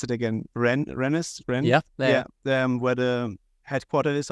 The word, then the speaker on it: Rennes: Last time we had a boot camp in, how do you pronounce it again? Rennes?